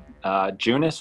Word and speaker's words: Junis: Junis was pitching.